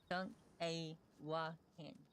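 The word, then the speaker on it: Šúŋkawakȟaŋ: Like, for instance, if someone asked what this was, she would tell them it was a Sankawakan, which is, no, Sank-a-wakan. But it's not pronounced Sunk, it's pronounced Sunk, so it's Sankawakan.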